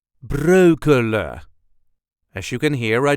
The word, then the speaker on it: Breukelen: Brooklyn this is the way us duchies say broa broa as you can hear I dro the N at the end of the word this is common broa there is also light emphasis on the first